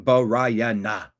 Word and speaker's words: Brianna: 4 syllables on Brianna.